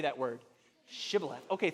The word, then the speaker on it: shibboleth: But if you were an Ephraimite, you just couldn't pronounce it. It would come out like Thiboleth.